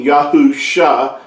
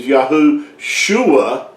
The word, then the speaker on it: Yahusha: yahuwah yahoo you know the messiah's name being yahoo shah and but if you attach it and you say his name is yahu shuah what you're actually saying is that yahuwah is crying out and that's not accurate